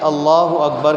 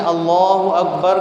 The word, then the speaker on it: اللہ اکبر: ادا کرنا ضروری ہے۔ کسی نے اللہ اکبر کا صحیح تلفظ ادا نہیں کیا، مثلا اللہ حمزہ کو کھینچ کے پڑھا اس کی نماز نہیں شروع ہوگی۔ کسی نے اللہ اکبر کو اللہ اکبر کھینچ دیا، اس کی